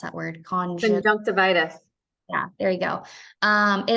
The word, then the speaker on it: conjunctivitis: Allie, how do you pronounce that word? Conjunctivitis.